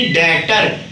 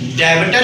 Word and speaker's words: debtor: हूं, DEBTOR यानी कि डेटर। डेटर कहां है सर, डेबिटर है, ये तो डेबिटर है ना बेटा, डेबिटर नहीं बोलते इसमें, बी साइलेंट से बोलते हैं डेटर।